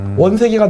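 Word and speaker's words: 원세개: 뭐에 비유할 수 있느냐 위암 스카이 한국 발음으로는 원 세계입니다 원세계가 누군지 아세요 대만 아니죠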